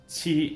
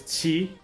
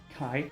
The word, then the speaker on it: qi: Again, this is xiao, not xiao, and this is qi, not kai, and this is cao, not cow.